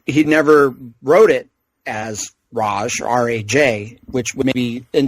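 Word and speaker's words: Ra's al Ghul: I never knew that I believe technically races the correct pronunciation but he'd never wrote it as Raj Raj which would be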